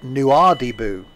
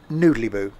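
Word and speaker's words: Nouadhibou: we were going to a place called nuadibu but i pronounced it noodly boo um and it then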